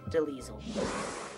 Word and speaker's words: DeLisle: Gray Delisle. Sometimes pronounced Delisle.